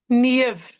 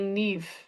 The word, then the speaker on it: Niamh: it's not NE it's you say it it's NV NE NV it's that's perfect yeah and in in Dublin or on in the west of Ireland they say neive so it's but in in Cork we say